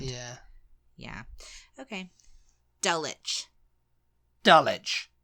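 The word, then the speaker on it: Dulwich: delich delic dull witch do not say it's dull witch my God I almost H you then it's D it's dich okay it's dich is there ever an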